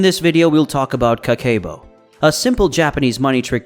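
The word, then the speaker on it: Kakeibo: let's get started what is kakebo it is pronounced as Ka K Bo which translates to household Finance Financial Ledger it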